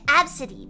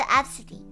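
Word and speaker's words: Abcde: Like Absidy, but it's spelled A-B-C-D-E.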